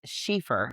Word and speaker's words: Schiefer: my dad's side, and that last name is pronounced Schiefer, and it's German, and my grandmother was Scottish.